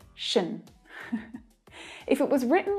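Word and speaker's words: -tion: always a noun and the pronunciation of this syllable is always unstressed it's always an unstressed syllable which means it's really quick chené chené yeah tion is pronounced shin if it was written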